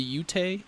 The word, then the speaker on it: Ute: And so there's another neighboring tribe called I don't even know how to pronounce this. The Ute, UTE, Ute Indians.